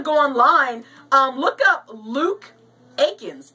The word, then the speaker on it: Aikens: So if you want to go online, look up Luke Aikens. It's L-U-K-E. His last name is pronounced A-I-K-I-N, as in Nancy, S as in Sam.